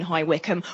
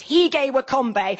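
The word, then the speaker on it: High Wycombe: at our house in High Wickham, which he pronounces he gay Wakombbe and later invades.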